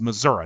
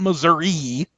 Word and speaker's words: Missouri: grow up there that this state name is pronounced Missouri not Missouri that's how the Yankees pronounce it Missouri the proper pronunciation if you grow up in